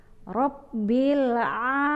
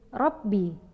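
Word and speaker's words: رَبِّ: Rabbil alamin. Rabbi, bukan Rabbi. Karena ro berbaris fathah adalah tafkhim, tebal, yang dibaca berat.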